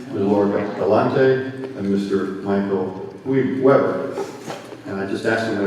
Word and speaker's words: Webert: Michael Webert. And I just asked him to pronounce his name properly, and I just blew it.